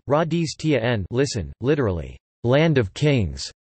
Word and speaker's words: Rajasthan: Rajasthan, Hindustani pronunciation, Radhis Tien, listen, literally, land of kings, is a state in northern India.